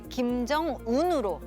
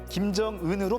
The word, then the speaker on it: 김정은: 석상의 모습을 드러냈던 사진입니다 당시 우리나라에서는 김정운으로 알고 있었죠 그때까지 김정운으로 보도했던 우리 언론들은 김정은으로 바로잡았었는데요 김정일 국방위원장의 요리사였던 일본인 후지모토 겐지가 발음을 잘못해서 생긴 해프닝이었죠 원래 의바름은 일본의 몸에